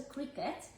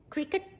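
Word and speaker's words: Cricut: And follow our social pages and also Cricket to see, C-R-I-C-U-T. Let me show you how it's spelled, okay? Cricket, just for those that don't know. Maybe someone thinks I'm referring to the sport where there's a bat and a ball being used.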